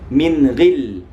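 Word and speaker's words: مِنْ غِلّ: Min ghil, min ghil, min ghil, min ghil. Awas, jangan sampai kita membacanya seperti tawallud. Min ghil, min.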